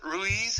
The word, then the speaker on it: Ruiz: Ruiz, is that how you pronounce it? Ruiz?